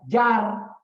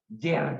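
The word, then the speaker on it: جار: satu kesatuan jer majrur ada yang menulis j a r Jar tapi dibacanya jer juga ada juga yang membacanya Jar majrur silakan tidak penting yang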